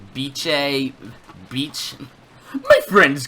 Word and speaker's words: Bice: really specify the pronunciation they just said it's pronounced like bi CH e so more like Beach a beach my friends call me